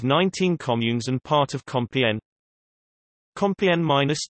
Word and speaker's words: Compiègne: Compiègne, French pronunciation, KPJ, Picard, Compiègne, is a commune in the Oise department in northern France.